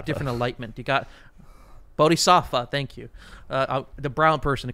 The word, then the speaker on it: Bodhisattva: Both Stan and the Matthew Pegas arc, quote-unquote, both end in a lotus position Buddha Vista death. Bodhisattva. A different enlightenment. You got Bodhisattva, thank you.